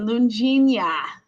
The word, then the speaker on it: Loune-Djenia: I know a lot of people pronounce it that way, but it's Loune-Djenia. I know. Loune-Djenia. Oh my gosh. Loune-Djenia. The D is silent.